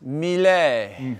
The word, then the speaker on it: Mille: You gotta say it like this, Mille. Oh, is that it? Mille. Mille.